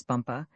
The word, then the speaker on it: Bumpa: She became his chief wife and is now known out there as the crown princess Bumpa. You accent the last syllable.